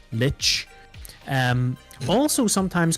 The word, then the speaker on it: Lich: AIT which is pronounced Lich you say it as if it had a t before the C Lich um also sometimes called